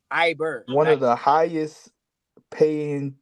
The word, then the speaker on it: Iberville: Parish school abille got gotta pronounce it correctly Iberville say French it's Iber one of the highest